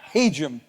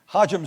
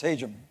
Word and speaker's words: Hajim: year and go out learning how to pronounce my name correctly it's haum hajim sounds much better but it's haum well so piggybacking off